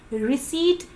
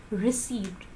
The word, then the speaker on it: receipt: the fact that it's being received the correct pronunciation is receipt not received oh do you pronounce this word and most